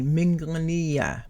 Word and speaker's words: Minglanilla: Speaking of loving a place so much, pronounce it correctly. Minglanilla.